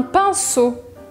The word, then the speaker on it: pinceau: Presta atenção que se escreve E-A-U à la fin, mas a gente fala O.